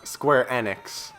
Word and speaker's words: Square Enix: time we learned okay Square Enix it's actually pronounced Square enex apparently which I'd never heard before but square